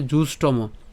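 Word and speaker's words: জুষ্টম্: হয়ে যাবে ঠিক আছে অনার ইয় তারপরে এখানে উচ্চারণ হবে কি জুষ্টম জুষ্টম হ্যাঁ আমরা একসাথে উচ্চারণ জুসম তাহলে জুষ্টম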